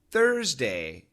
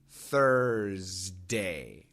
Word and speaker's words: Thursday: in the mouth third Thursday third thday the S is actually a z sound and it's vibrated